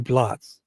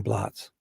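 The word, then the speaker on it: blót: It's got a line over the O.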